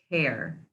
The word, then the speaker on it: tear: Be careful not to tear your notebook. That's pronounced with a long A sound, tear.